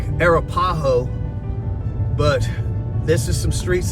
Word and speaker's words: Arapaho: For those of you that don't know exactly how they pronounce that, they say Arapjo here in Texas. I'm from Arizona. It's more like Arapaho, but this is some streets that I haven't been down in a couple of years.